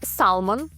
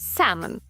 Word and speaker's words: salmon: Не salmon, а salmon.